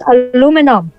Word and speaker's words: aluminum: And the word is pronounced as aluminum.